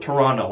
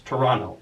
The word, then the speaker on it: Toronto: I hope I pronounced Toronto right. I think there's no T in there, but as you guys know, my pronunciation is like my strong point. So I believe you call it Toronto.